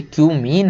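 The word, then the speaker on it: cumene: केवल कि क्यूमीन से, इसको कुछ और मत पढ़ लेना भाई, ये क्यूमीन है। बहुत सारे लोग समझ रहे हैं क्या क्या पढ़ लेते हैं, है ना, तो इसको वही पढ़ें जो इसका प्रोनाउंसिएशन है।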